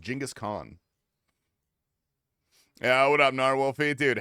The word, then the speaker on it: Genghis Khan: It's pronounced Genghis Khan.